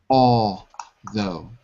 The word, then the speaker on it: although: Although. Although. Yeah, the L is silent. You don't say the all, you say all. Although.